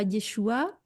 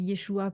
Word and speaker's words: Yeshua: nom, c'est comme ça que ça se prononce, c'est son nom Ah, en d'accord.